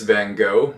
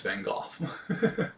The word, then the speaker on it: Van Gogh: If you're American, it's Van Gogh. If you're British, if you're European, it's Van Gogh.